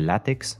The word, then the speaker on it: Lattics: The latex, sometimes abbreviated to the ticks, no connection to the blood-sucking vermin whatsoever, or how people from this region would pronounce Athletic or Wigan Athletics.